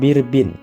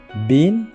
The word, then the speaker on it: bin: kemudian 1500 bin besuse nah ini juga sama jangan birbin ya salah jadi kita bacanya bin best us Oke kemudian 200 eh